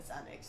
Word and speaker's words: Xanax: If someone if someone said to me spell Xanax, I'd definitely start with a Z.